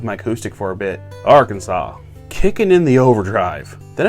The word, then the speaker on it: Arkansas: it's party time and it's pronounced arkansas you idiot now where is